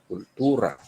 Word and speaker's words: cultura: Hindi pag culture kasi ang basa diyan English, pero since this is Latin, you pronounce it culture, cultura.